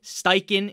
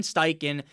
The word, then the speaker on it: Steichen: Anthony Richardson again the fact that Stane Shane steiken is there I always say this guy's name wrong and people always fucking Hound me in the comment section but Shane steichen is I think he's going to be legit